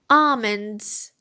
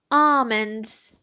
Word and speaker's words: almonds: topic okay let's start almonds almonds the el here is silent we do not pronounce it almonds black eyed peas black